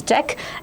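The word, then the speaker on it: deque: How need to pronounce this? This you need to pronounce as deck.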